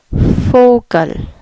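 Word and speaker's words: Vogel: so that is fokin for gun for gun if you remember from our alphabet lesson the V makes an F sound for gun for gun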